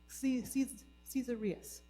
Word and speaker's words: Caesarius: Caesarius. Saint Caesarius.